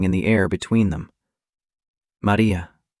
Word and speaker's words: Maria: He said the name in dialect, the way her grandmother used to say it, with the stress on the second syllable and the final vowel drawn out like a note held too long.